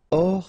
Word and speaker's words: hors: Hors ligne. Final E here not pronounced. So ligne. And then here S is not pronounced. The final one. So hors. And remember H doesn't exist. So hors ligne.